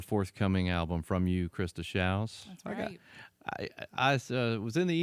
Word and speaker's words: Shows: last name correctly how many times do people mispronounce that when you're out playing in places and stuff really yeah it always shows but it looks like show shows right and